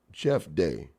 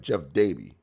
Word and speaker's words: Jeff Dabe: Jeff Day.